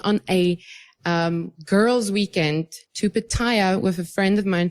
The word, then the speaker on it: Pattaya: So it's not pronounced Pattaya, by the way. For somebody who lived in fucking Thailand for enough years, she should know how to pronounce it. It's Pattaya.